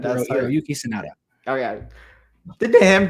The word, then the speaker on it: Hiroyuki Sanada: Oh, well, speaking of that, I could never pronounce his name correctly. The guy who plays Scorpion. Yeah. Hiroki Sanada. Hiroki Sanada, right? That's Hiroyuki Sanada.